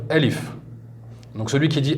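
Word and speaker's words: ألف: Donc Alifoun, c'est écrit Alifoun, mais rappelez-vous, si on s'arrête dans la prononciation à la fin, on fait comme s'il y avait un soukoun. Donc on va dire Alif. Donc celui qui dit Alifoun, c'est pas grave, c'est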